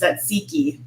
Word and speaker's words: tzatziki: The emphasis must be somewhere else. You're not that far off, actually. Okay. At least from my pronunciation, the way that I pronounced it growing up is tzatziki.